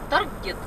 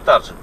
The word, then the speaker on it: Target: две недели в этот Таргет. Таргет. Таргет. Ну, в общем, по привычке из Белоруссии и по правилам как бы надо прочитать таржет. Но это слово исключение, оно читается таргет.